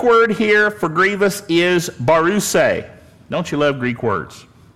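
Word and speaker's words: βαρύς: here for Grievous is barus don't you love Greek words b a r u s pronounced barus and it means weighty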